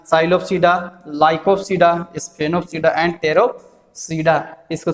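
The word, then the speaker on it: Psilopsida: पहले साइलोप्सीडा, P silent, साइलोप्सीडा, पहला जो तुम्हारा क्लासिफिकेशन किसमें किया गया है, साइलोप्सीडा।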